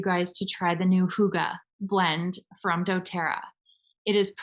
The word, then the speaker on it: Hygge: I've heard all kinds of different things, but in Nordic countries, it is pronounced Hygge. It is so fun. If you've never said the word out loud, say it out loud wherever you are right now. Say Hygge.